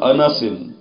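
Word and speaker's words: أنس: غلط بولتے ہیں۔ وعن انس، نون کے اوپر فتح ہے، زبر ہے، اس کو یوں پڑھنا درست نہیں ہے، انس، انس نہیں انس، یعنی کہ نون کے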